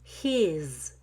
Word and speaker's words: he's: finished he's done it when i say he's done it i like to keep the long e in his but occasionally somebody might say has done it with a his it's not a very good habit and i don't suggest it he's done it is